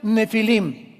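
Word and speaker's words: נפילים: Esas palabras, si tienes tu Biblia dice gigantes, ponle nepilim con ph. Nepilim se pronuncia nefilim y significa caídos.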